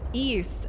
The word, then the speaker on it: Ys: Ease. Oh, Ease. It's a series of action RPGs on the PSP, but it's it's spelled YS, but it's pronounced ease.